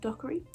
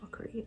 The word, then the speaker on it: Dockery: am i banking michelle dockery dockery is how you say your last name honest to god her